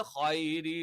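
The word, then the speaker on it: خَيْرِ: ഖൈ എന്ന് പറയുമ്പം നമുക്കറിയാം എന്താണ് ഇവിടെ ഐ എന്ന് പറയുന്നത് പോലെയുള്ള ഒരു ഉച്ചാരണമാണ്. അല്ലാതെ അറബിയിൽ ഇങ്ങനെ ഐ എന്നുള്ള ഒറ്റ ഉച്ചാരണമില്ല. അതുകൊണ്ട് തന്നെ ഹൈരി അവിടെ യാ വന്നതുകൊണ്ട് ഹൈ എന്നായതാണ്.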